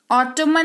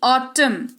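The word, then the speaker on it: autumn: ऑटो मां नहीं ऑटम ओटोमन नहीं ऑटम सी ओ ल ओ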